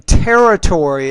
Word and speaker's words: territory: one word here is more of a word stress thing territory is how I would pronounce that again territory within the